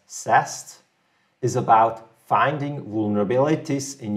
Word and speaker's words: SAST: question let's see so static application security testing often pronounced as sast is about finding vulnerabilities